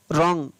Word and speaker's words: wrong: WRONG रॉन्ग। रॉन्ग यानी गलत। तो यहाँ पर भी W का उच्चारण नहीं हुआ है। RO का रो, N का न, और G का ग।